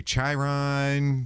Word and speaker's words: Chiron: only read the book so how do you pronounce Chiron okay Chiron can you explain to us what Chiron is